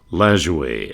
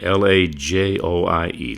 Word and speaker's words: Lajoie: The Frenchman, they called him Napoleon Lajoie, Lajoie. A lot of people mispronounce his name over the years, but here's another great one.